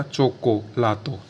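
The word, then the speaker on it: cioccolato: आई है, तो सी के बाद आई हो तो उसे पढ़ा जाता है, लेकिन आई के बाद क्या है ओ, तो उस कंडीशन में आई क्या हो जाएगा, साइलेंट, तो क्या पढ़ा जाएगा चो। फिर सी के बाद क्या है ओ, सी के बाद ओ हो तो उसे क्या पढ़ा जाता है को, तो क्या होगा चोको लातो, चोकोलातो मतलब चॉकलेट।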